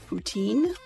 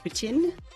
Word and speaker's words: poutine: regional thing is so you've heard the french fries and gravy dish referred to as poutine where every single letter is pronounced strongly in the English format and then there's also